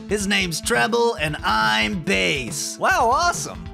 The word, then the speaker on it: Bass: But I think it's pronounced Bass. What? Well, I mean, you're supposed to be a fish robot master, right? That's why you got those fins on your head? No, I... Bass, like the fish.